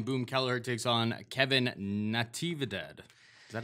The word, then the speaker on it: Natividad: And finally, we were just talking about Brian Boom Kelleher takes on Kevin Natividad. Is that how I pronounce it? Navidad.